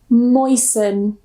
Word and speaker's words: moisten: So the first rule, normally if we have the ending S-T-E-N, we normally don't pronounce the T. So we just pronounce it sun, sun. For example, fasten, or fasten, glisten, listen, moisten.